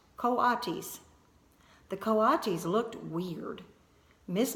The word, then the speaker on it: coatis: Brisbane said reading from the letter pronounced coatis the coatis looked weird miss Mack looked gorgeous